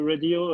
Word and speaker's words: radio: Okay, and get a long A with that radio.